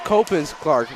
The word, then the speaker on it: Copans Clark: player's name wrong apparently Margaret's last name is Copans Clark not copy gosh sorry about that Margaret Copans Copans Copans Clark Margaret Copans Clark as in Hope yeah and uh is